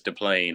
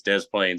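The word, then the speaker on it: Des Plaines: how you say it I don't think it's Dain I think it's Dez Plains Illinois okay yep and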